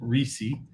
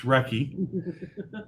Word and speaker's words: recce: about the um the recce uh which by the way don't pronounce it reese it's wrecky yeah only a fool